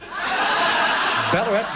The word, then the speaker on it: Ballarat: Ballarat rhymes with cracker fat.